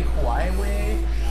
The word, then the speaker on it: Huawei: Huawei? Is that Huawei. Yeah. Huawei? Is that how you pronounce it?